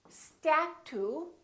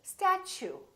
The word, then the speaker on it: statue: We don't say statue, we say statue. Statue. So the T, U sound like ch. So it almost sounds like chew. I chew my food.